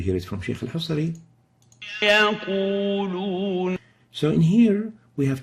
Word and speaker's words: يقولون: In the here, we exaggerate the pursing of the lips when pronouncing the wow, like يقولون. And let's compare that with a proper pronunciation as we hear it from Sheikh al-Husari. يقولون.